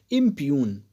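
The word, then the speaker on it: impugn: IMPUNG, बट इसका जो pronunciation होगा वो होगा इम्प्यून।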